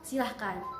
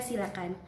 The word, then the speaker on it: silakan: Menurut pronunciation-nya, silahkan, disilakan. Kita harus menghilangkan kata hak. Jadi silakan atau persilakan ya. Itu poin pentingnya. Hilangkan kata hak ya.